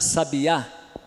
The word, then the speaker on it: sabiá: vai ser o salário então sabia aqui vai ficar sabia e aqui vai ficar sabiá então eu o acento